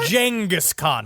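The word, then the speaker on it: Genghis Khan: I'm showing felty to Jenghaskhan. If you listen to Hardcore History, that's the way he makes sure you know that that's how it's pronounced.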